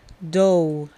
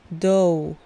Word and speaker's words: dough: La palabra dough significa masa y simplemente se pronuncia dough. Dough. Tanto la G como la H que se encuentran al final no se pronuncian. Simplemente tienes que decir dough, dough, dough.